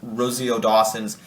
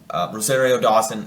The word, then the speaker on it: Rosario Dawson: ahsoka back awesome i love i love rodol rosio dawson's rosario dawson trying to say it correctly uh approach or